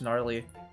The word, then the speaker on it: gnarly: Just gnarly. Silent G.